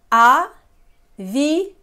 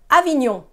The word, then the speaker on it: Avignon: So when I say we don't pronounce letters separately in a nasal sound, you might be tempted to say Avignon, Avignon, Avignon. But in a nasal sound, the N is not there.